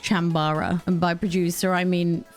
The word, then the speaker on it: Chambara: physical condition don't laugh chambra basically chambra is what you can use to play if you're sad you're not a jedi my producer just told me it's it's pronounced chambara and by producer i